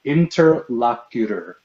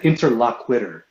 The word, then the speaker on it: interlocutor: It's pronounced interlocutor. Interlocutor. What are you talking about? You said interlockwitter.